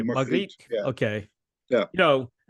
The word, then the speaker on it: Margriet: Your singer, is it Margaret? Yeah, Margriet. Yeah, we say Margriet.